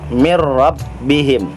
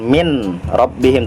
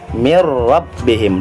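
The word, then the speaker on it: مِن رَّبِّهِمْ: masih huruf idgam bilagunnah non ketemu rok mirrobbihim bukan mint robbihim tapi dimasukkan ke dalam huruf ro ya tetapi juga tidak mendengung bukan mirep bihim salah yang benar adalah mirrobbihim dimasukkan tetapi tidak mendengung itu dia idgham bilagunnah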